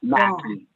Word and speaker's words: Mackey: Mackey on, and is it Mack or Mackey? I may have been saying it wrong. Mackey.